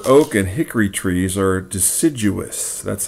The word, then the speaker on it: deciduous: look here burr oak and hickory trees are deciduous that's how you pronounce that word deciduous okay which means that they lose their leaves